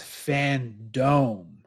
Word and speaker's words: Fandome: other cool well no you guys are saying it wrong it's fan dome it's fantastic because because they're in a they're in a virtual dome it's the fan dome